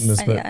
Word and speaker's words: Nespresso: Nespresso. That's Did I my pronounce that wrong?